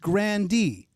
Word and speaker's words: Grande: true that it's just grand d yeah yeah you do pronounce that e okay because i all